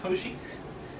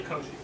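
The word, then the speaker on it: Cauchy: it to you because I want you to be able to pronounce to pronounce Koshi and remark especially Koshi his name is going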